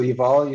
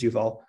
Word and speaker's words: Yuval: the talk will be given by yuval so eval is our very own postdoc and he'll be